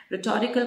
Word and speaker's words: rhetorical: technique of rhetorical questions r h e h is silent rhetorical question means those questions